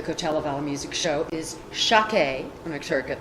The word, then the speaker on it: Shakeh: It's an Armenian name. The American equivalent of Shakeh is actually Charlotte, and they actually pronounce it Shakeh, but I liked Shakeh, so I changed a little bit.